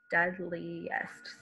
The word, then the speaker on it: deadliest: So even though here I have 1, 2, 3, 4 vowels, there are only 3 vowel sounds. The e from ea in dead, li, that I is making a long e sound, and est, that e is making a short e sound.